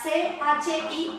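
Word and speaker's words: ち: La CHI, que suena chi, como cuando en español decimos chicle, chicharrón, chistoso, suena fuerte.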